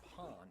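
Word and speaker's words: パン: Portuguese also probably introduced the word pan or Pawn is the authentic pronunciation Pond just means bread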